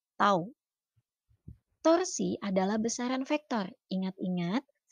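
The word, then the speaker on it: τ: Simbolnya seperti huruf T, dibacanya tau.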